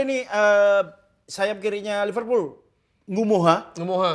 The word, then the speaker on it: Ngumoha: eh sayap kirinya Liverpool Ngumoha Ngumoha Itu kan dibacanya sebenarnya N Gumoha N Gumoha Karena kita NG itu dibaca eng, jadi Ngumoha Ya tapi enggak bisa